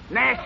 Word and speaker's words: gnash: Nash is spelled G-N-A-S-H, and the E is silent preceding the N.